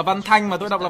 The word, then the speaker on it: Văn Thanh: Còn tôi đọc là Văn Thanh mà tôi đọc là Văn Thành đâu.